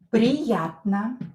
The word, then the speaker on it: приятно: But here O is not stressed, so I pronounce it as A.